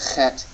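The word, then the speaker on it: חית: Some people say it a little harder, like Bach. But you really want to get the phlegmy sound when you're pronouncing the chet in Hebrew.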